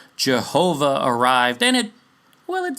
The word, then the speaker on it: Jehovah: up with the word Jehovah J is pronounced Y in German by the way So no it was Yahovah even in this instance and the name stuck